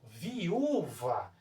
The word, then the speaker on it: viúva: Quando eu faço a separação silábica, quando eu pronuncio, ó, viúva, observe só a forma como o u é pronunciado, de forma muito mais forte.